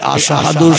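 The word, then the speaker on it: أشهد: এই আশহাদু শব্দটা শিন অক্ষর দিয়ে উচ্চারণ করতে হয়।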